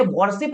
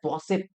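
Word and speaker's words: worship: ऑफ, मैंने क्या बोला, मैंने वॉरशिप नहीं पढ़ा, मैंने वॉसिप पढ़ा, क्योंकि इसका जो राइट प्रोनाउंसिएशन होता है वो होता है वॉसिप।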